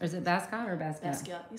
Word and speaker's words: Basquiat: Okay, and you know that artist, and I'm feeling embarrassed that I don't know how to pronounce his name. Basquiat? Mm-hmm. Is it Basquiat or Basquiat? Basquiat, you said it right.